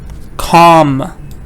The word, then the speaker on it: calm: Calm. L is silent.